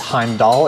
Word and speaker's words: Heimdal: I'm the vice president of business development at Heimdoll. Um I know it's not always obvious how to say the name of the company based on how it's spelled, but it's Heimd Doll.